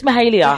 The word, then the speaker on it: Mahalia: Did I pronounce it right? It's Mahalia.